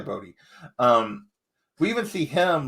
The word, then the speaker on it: Bode: see like what and it's probably bode because the way it's spelled i i called him bowed when i was reading it in my head but you're probably right it's probably bodhi um we even see